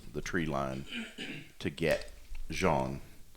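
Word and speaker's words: Jeanne: out of the the tree line to get jean it's jeene I know how it spelled I looked up the pronunciation is it it's Jean it's z h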